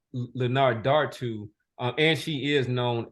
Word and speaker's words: Linardatou: I think so her the pronunciation for her last name is Leonard Dar to uh and she is